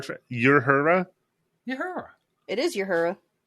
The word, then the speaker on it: Uhura: Yeah, like how did you pronounce Uhura just a little while ago Uhura. from Star Trek? Uhura? Uhura. It is Uhura.